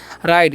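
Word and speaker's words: ride: है ई वाल्स है तो ऐसा जो कॉमिनेशन रहेगा ना तो पहले वाला वस का उच्चारण करना है लास्ट वाला का नहीं करना है ठीक है तो इसे हम लोग पढ़ते हैं राइड क्या पढ़ते हैं राइड इसे रीड नहीं पढ़ना है राइड मतलब क्या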